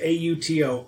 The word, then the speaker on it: Auto: His name is Auto, Otto, but they pronounce it Otto, and he's basically like the big, dumb mechanic who has a bazooka for some reason.